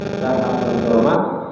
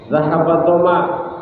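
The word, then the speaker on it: ذهب الظمأ: Allahumma laka sumtu wa bika amantu wa ala rizqika afdaltu zahatul doma wa taliyatil huruf wa sabatil ajra insyaallah wa sabatil ajra insyaallah. Ini bacanya zahabat doma, yang tadinya haus, yang tadinya lapar hilang.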